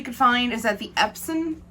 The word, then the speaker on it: Epson: find is that the epson printers are epsom i can't really say it right it's epsom epsom printers um use alcohol